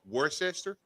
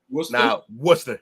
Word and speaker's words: Worcester: WRCE and stir. Okay, that makes sense.